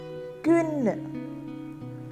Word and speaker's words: kvinde: We can split the spelling into 3. KV, IN and DE. KV sounds like KV itself. In like in English. DE is a soft oo sound at the end. What sound? Oo sound. So put it all together and pronounce it as kvinde.